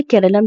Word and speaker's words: Keralam: इसका ये एक इंग्लिश लैंग्वेज है यानी इंग्लिश स्पेलिंग है। तो हम लोगों ने केरलम की जगह पे अपने कॉन्स्टिट्यूशन में केरला लिख दिया।